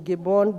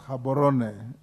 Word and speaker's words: Gaborone: the Southern Africa Development Community, SADC headquarters in Gabon, Botswana. It is pronounced Gaborone, Botswana.